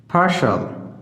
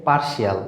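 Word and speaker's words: partial: পার্শাল, পার্শাল, আমরা সাধারণত এটা উচ্চারণ করে থাকি পার্শিয়াল, বাট it will be পার্শাল। খেয়াল করো এই যে এখানে আই এর জন্য অ সাউন্ড হয়েছে।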